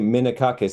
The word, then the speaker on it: Minakakis: Hey guys, this is with Valley of Death on 4 Z and I'm joined very graciously with Minakus. Is that how you pronounce it, dude?